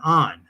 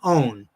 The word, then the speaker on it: Ohn: And I've heard that mispronounced on the Marvel cartoon shows and stuff, where they call him Jonathan Own because it's spelled O-H-N. But it's in my head, and you'll see why in a second, it was Jonathan On.